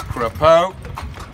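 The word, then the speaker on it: crapaud: The French word for frog is crapeau. Bernard did not pronounce the word right, he said craps.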